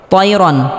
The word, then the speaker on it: طيرا: তয়রন, তাইরন হবে না, তয়রন আবাবিল।